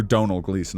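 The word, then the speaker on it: Domhnall Gleeson: Kind of looks like Donald Gleason or Donal Gleason I think is how his name is actually pronounced.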